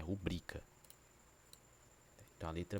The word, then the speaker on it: rubrica: aprende errado a chama a a como se a pronunciar assim, né? Rúbrica como se próparo cito, né? Mas a sílaba Tô não é no ru, é assim, ó. Ru br rubrica, né? A sí tá no bri, não é rúbrica, certo?